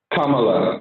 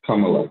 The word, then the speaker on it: Kamala: Kamala, like a comma and la, Kamala.